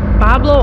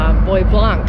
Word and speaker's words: Bois Blanc: ready to go over to Bob Lowe Island also actually named boy Blanc Island where boys walk if you're from Michigan the red